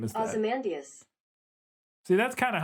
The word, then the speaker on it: Ozymandias: Because I have always pronounced it Ozymandias. Like I put the emphasis on the M-A-N part. Ozymandias.